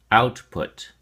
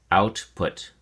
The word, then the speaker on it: output: your flash card output has two syllables and the emphasis or stress is on the first syllable out so we say output output make sure the t's